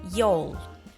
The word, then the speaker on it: y'all: a group of people you can use this contraction and pronounce it as Yol before we look at